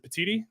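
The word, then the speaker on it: Petitti: And who knows if Tony is it Petiti? Is that how you say it? Yes.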